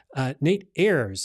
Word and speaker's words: Nate Ayers: Nate Ayers. Is that the right way That's to right.